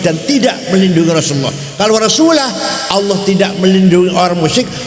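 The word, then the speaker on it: وَرَسُولُهُ: Kemudian ada orang baca Quran salah. Wa annallaha bari'um minal musyrikin wa rasulih. Allah tidak melindungi orang musyrik dan tidak melindungi Rasulullah.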